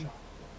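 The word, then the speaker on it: Schott: So your name is Scott, S-C-H-O-T-T. Shot. Oh, Shot. I think I was saying it wrong.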